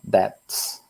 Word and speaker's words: debts: Debts. Você não pronuncia o B aqui, tá?